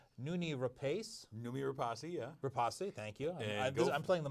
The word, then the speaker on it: Rapace: Rapace, thank you. I'm playing the Mike Roth role.